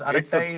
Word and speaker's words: Arattai: Uh I mean it is pronounced as arai.